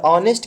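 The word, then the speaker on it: honest: एन किस लिए, क्योंकि ऑनेस्ट पढ़ेंगे, और ऑनेस्ट के पहले अगर आर्टिकल लगाना है तो एन का यूज करेंगे, कि इसलिए क्योंकि ऑनेस्ट आता है तो अ से उच्चारण होता है, और अ एक स्वर ध्वनि है।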